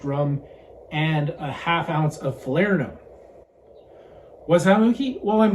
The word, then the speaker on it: Falernum: It says Falernum, pronounced fə-LUR-nəm, so phonetically spelled it's F-A-H-L-E-A-R-N-U-M, so Falernum.